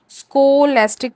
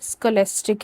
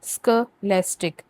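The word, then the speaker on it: scholastic: हालांकि इसकी प्रोनाउंसिएशन जो है स्कोलेस्टिक नहीं है, स्कोलेस्टिक है, स्कोलेस्टिक।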